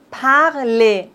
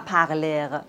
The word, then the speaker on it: parler: Quand on a ER à la fin des mots, on ne prononce pas le R, comme par exemple parler, on ne dit pas parler, non.